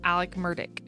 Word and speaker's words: Alec Murdaugh: name Alex but he I think calls himself Alec murdick yeah his name is his real name is